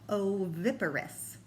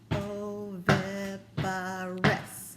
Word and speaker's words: oviparous: And any animal that lays eggs is called oviparous. Let's see how many syllables that has. I can even stomp it. Oviparous. Did you get 4? You're right. Oviparous has 4 syllables, and it means any animals that lay eggs.